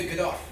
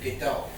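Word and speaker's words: Godot: Waiting for GD. No, it's by Samuel Beck and it's waiting for good. You don't pronounce a T CUZ IT'S FRENCH.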